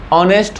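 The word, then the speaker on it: honest: की ऑनेस्ट नहीं होता ऑनेस्ट होता है यहां पर हा साइलेंट है और जब ऐसा ईट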